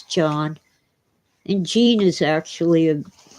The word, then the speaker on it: Jean: It's spelled like Jean. J E A N, but it's John.